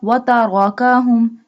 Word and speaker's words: وتركهم: بنورهم وتركهم. Here ra has a fatha sign, so we bold it.